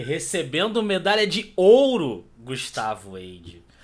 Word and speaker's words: Heide: medalha de ouro Gustavo Edge Qual é a pronúncia correta é como se não tivesse o h Então beleza errado mas já